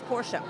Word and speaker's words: Porsche: do know for a fact that it is pronounced Porsche because I did the driving experience and I verified because everybody calls it a Porsche I said I need to know definitively it is Porsche you're welome is Porsche yeah and I I